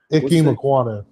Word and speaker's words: Ikem Ekwonu: Ikem Ekwonu.